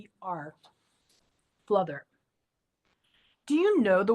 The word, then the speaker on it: fluther: And another one of those poems about a word I like is called fluther. It's spelled Fluther.